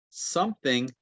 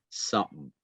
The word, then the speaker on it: something: Something. Something. Something. Something. Something. Something. It actually sounds like S-U-M-M. Something. Something. Something. And this is a glottal stop.